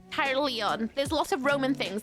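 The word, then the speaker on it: Caerleon: I realized Kyle Leon might not even sound like how it's spelled, but C A E R L E O N. Kyle Leon.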